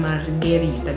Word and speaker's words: Margherita: Just, you know, mix between margarita and margherita because they sound similar. They written similar.